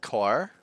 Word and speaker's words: corps: It's pronounced core.